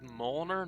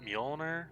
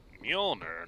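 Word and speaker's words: Mjölnir: just killed someone also they said moelner not mjolnir that's the i mean at least they didn't pronounce the j as opposed to pronouncing the j wrong but like like if he's going by tor as opposed to thor that's the old nordic way and i'm pretty sure it's mjolnir not muller right or or am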